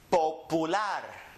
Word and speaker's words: popular: So we pronounce it popular. Read it. Popular. Excelente. Now remember, this is an O. Po. This is an U. Pu. Lar. Popular.